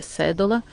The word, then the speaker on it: Sedola: nome é cédula não tem acento então todo mundo fala cedo aula mas é cédula eu tenho 33 anos